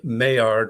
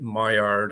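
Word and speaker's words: Maillard: it is uh uh the mayard reaction I should have said I called it my yard I'm sorry um for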